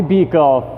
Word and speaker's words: Buechel: It's Buechel, not Buechel, not Buechel, not. It's Buechel. Just drop the U. And correcting all of those incorrect pronunciations, it's Buechel, right?